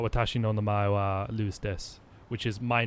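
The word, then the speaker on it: です: It's spelt desu, but it's pronounced des in a lot of places. Most people just say des, but it's pronounced desu.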